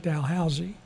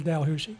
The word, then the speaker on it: Dalhousie: And over there they pronounce it Delhausy. Now it's a little difficult for us Americans to say so we kind of slur it in Delhusi.